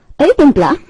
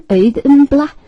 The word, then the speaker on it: Auðumbla: Auðumbla, be careful about the pronunciation, Auðumbla, accent always on the first syllable in Icelandic, is Frey's cow in this night sky context.